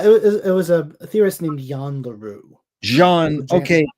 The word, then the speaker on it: Jan: Looks like Jan, but I think it's pronounced Jan.